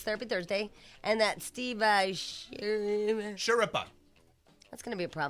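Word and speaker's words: Schirripa: Thursday, and that Steve Shurippa. That's going to be a problem for me. It's like Sure and Rippa. Remember Kelly Ripa was Sure in front of it. Shurippa.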